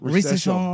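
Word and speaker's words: Risacher: Zachary Risachet? That sounds about- Risachet? Recession.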